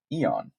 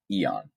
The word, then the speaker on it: Aeon: Another one that you'll also see will be Eon. Uh, that's spelled Aeon. Eon.